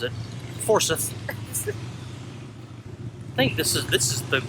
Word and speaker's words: Forsyth: now at Forsyth Park, or as the Google Maps lady pronounces it, Forsyth.